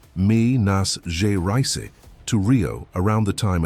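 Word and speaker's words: Minas Gerais: He found that Maro had traveled from Mina, pronounced mi nas ja rice, to Rio around the time Eliza disappeared.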